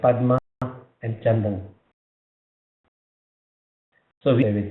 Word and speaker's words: Padma: So Padma should be Sanskrit. Sanskrit the pronunciation is Padma.